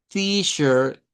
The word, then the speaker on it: T-shirt: Y claro, ver la terminación con ER, que la vamos a pronunciar con una schwa. Vea, una schwa y una R. T-shirt, t-shirt, t-shirt.